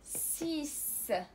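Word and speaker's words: six: مثلا سيس سيس. اذا هنا عندنا لا لتر X وتنطق او كتعطينا الصوت س. سيس كتعني سته سيس سيس.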